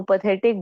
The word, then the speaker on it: path: पैथ का मतलब है इमोशन. मैं इसको पैथ क्यों प्रोनाउंस कर रही हूँ? बिकॉज पाथ, PATH, इंग्लिश में एक ऑलरेडी कंप्लीट वर्ड है.